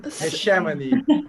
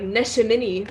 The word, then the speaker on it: Neshaminy: I training all the week to say the name of school right. Neshaminy. People around here don't say it right. Like, yes, a lot of people at some band competitions would be like Neshaminy, which were like, that's not right.